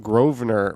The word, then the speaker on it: Grosvenor: named grovener is pronounced Grosvenor with the emphasis on the first syllable despite the uh the very clear evidence that it's grovner g-r-a-w-v-n-e-r how do you